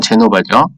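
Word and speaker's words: Genova: 제네바랑 제노바랑 다른 거라는 거예요. 영어로 썼는데 이렇게 썼어요. 제네바. 근데 이건 제노바죠. 영어식 발음이에요. 그래서 제네바는 스위스에 있는 국가 중에 하나고요. 제노바 같은 경우에는 이탈리아의 북쪽에 있는 도시예요.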